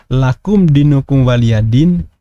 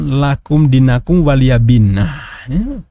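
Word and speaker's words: لكم دينكم ولي دين: juga ternyata begitu ya Misalnya lakum dinukum waliyadin diucapkan lakum dinakum waliyabinnah mosok ngaku muslim keturunan Arab bisa bahasa Arab dan keluarganya nyebut lakum dinaku waliyabin kemudian bahkan Alaihissalam Alaihissalam ya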